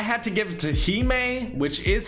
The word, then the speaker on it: Hime: Moving on to my number 10 spot, I had to give it to Hime, which is how you pronounce it, I promise, and the Dark Wings.